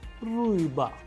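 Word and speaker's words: рыба: B, but in Russian we have the word riba, riba. How do we pronounce it? Riba, uy. That is why it is a vowel, that is why the stress is falling onto it, and the pronunciation is ruiba, which means fish in Russian.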